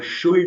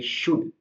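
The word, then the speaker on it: should: ओ यू एल तो उसके अंदर शुल्ड नहीं बोल करके शुड बोलेंगे यहां पर एल का साउंड है नहीं शुड का मतलब होता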